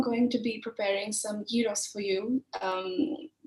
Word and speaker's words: gyros: to be preparing some heroes for you um some people may know them as gyros or gyros but my greek best friend always tells me to pronounce gyros so i'm going to